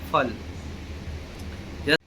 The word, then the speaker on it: ful: और जिसके अंदर सिंगल एल आता है उसको फुल नहीं, उसको फल पढ़ा जाता है।